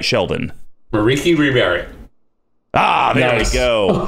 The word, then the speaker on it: Merieke Ri Berit: Dragon Highlander, Sheldon Menery, and his, hopefully I pronounced this correct, Merieke Repo Specialist deck. Did I say her name right, Sheldon? Merieke Ri Berit.